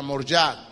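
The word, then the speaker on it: Moriah: el nombre yahwe moriat la palabra correcta la pronuncia más correcta sería morat Pero le decimos moriat que fue el lugar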